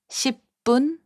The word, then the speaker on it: 10분: 10분, which means 10 minutes, is pronounced as 10분.